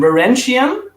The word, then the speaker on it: Varangian: How you pronounce it? Actually, it's like an English term, Varangian and Vigilante.